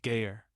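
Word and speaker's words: גר: The word is ger, spelled gimel resh, pronounced gayer.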